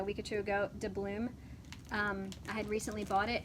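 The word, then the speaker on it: Dubloon: because the first time I looked at it, what did I call it? Dublin. I called it Dublin.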